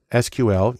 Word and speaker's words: SQL: important too the most common language there is sql usually pronounced sql which stands for structured query language because that's